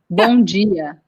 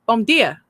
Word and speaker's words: bom dia: It's the same as the letter D making a J sound. Yeah. So hard for me. And it changes. Like Gia. Bom dia. Yeah. Bom dia.